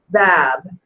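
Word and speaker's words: باب: at the end of the word and it's pronounced bab it's important to remember that Arabic is written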